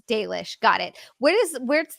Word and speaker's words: Dalish: wrong this entire time is it dish not dollish uh it's dish I don't mind how